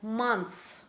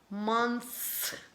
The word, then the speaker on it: months: in English for example months months months when you try to read months is not possible to pronounce all four consonant clusters so in that case it sounds like months similar like nothing something and